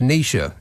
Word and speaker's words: Naoise: of the names of the storms Nao is pronounced Nisha you're welcome n AO i s e is